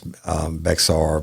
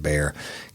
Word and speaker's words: Bexar: I know I got this name wrong once, Bexar, but I think they pronounce it Bear County.